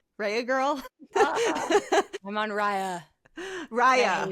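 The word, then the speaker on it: Raya: You're a Rehea. Rya Rya. How do you say it? Rhea girl. I'm on Rya. Rya. It rye like rye bread.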